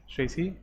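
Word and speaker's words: chassis: शेसी तो समझते होंगे ना, शेसी मीन्स के जिसको हम अक्सर जो है गलत चेचिस कहते हैं, शेसी मीन्स, शेसी से प्रोनाउंसिएशन है, कुछ शेसी है।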